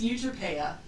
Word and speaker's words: Euterpea: It's Euterpea. Euterpea. Okay. Euterpea. I was close. I was going more towards an oi. Yeah, it's like Utopia, except I've shifted it a little bit. Euterpea is the Greek muse